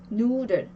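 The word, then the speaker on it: Nudel: 3번 누들, 누들 면이라는 뜻이죠. 누들 강세가 누에 오고요. 역시나 뒤에 있는 자음이 하나밖에 없기 때문에 길게 발음을 해줘요. 장모음 우로 발음을 합니다.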